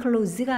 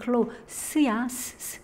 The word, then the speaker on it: close: 발음이 close가 아니라 그땐 close야.